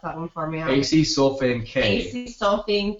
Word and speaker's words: acesulfame K: So we have a few mentioned here, sucralose #1, aspartame, and can you pronounce that one for me? Acesulfame K.